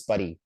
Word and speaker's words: Paris: Like the French people, they don't pronounce the last letter in the word, I guess. Okay. So like Paris is Paris, right?